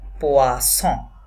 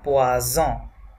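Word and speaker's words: poisson: করতে পারি, সেটা হচ্ছে যদি ফরাসি ভাষার কোনো শব্দের মাঝে ডাবল এস থাকে তাহলে সেটা স উচ্চারণ হবে, ডাবল এস থাকলে স উচ্চারণ হবে, তাহলে এটাকে কি হবে, পোয়াসন, নট পোয়াজন। সিঙ্গেল এস থাকলে আমরা বলতাম পোয়াজন, এখানে ডাবল এস আছে এই জন্য বলবো পোয়াসন।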